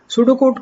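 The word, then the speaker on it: pseudocode: सूडो कोड को pronounce करते हैं सूडो कोड, ठीक है।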